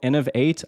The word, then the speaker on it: Inov8: The brand is called Inov8. I think it's spelled INOV and the number 8, Inov8.